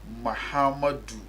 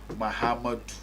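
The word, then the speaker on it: Mahamudu: we those from Z pronounce the name of V correctly for others to emulate the name is mahamadu B not Muhammad you've written the same thing maybe Muhammad they don't call him Muhammad what you mention first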